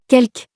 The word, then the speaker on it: quelque: There is one exception where we have to pronounce the letter E, and this word is Quelque.